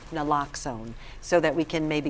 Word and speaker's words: Naloxone: Naloxone. Naloxone, so that we can maybe combat some of the overdoses, but you still need to call 911.